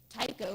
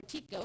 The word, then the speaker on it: Tycho: the younger impact craters, Tycho, or Tico, however you feel to pronounce it for the night, which